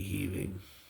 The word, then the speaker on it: Heving: It's spelled Heving. I wasn't sure if it was Heving or Heaving, but after doing a little research, I came to the conclusion that it should be Heaving.